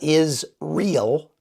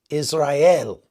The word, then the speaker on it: Israel: Sr e a l it's not is real it's Israel think of that way Israel because about half the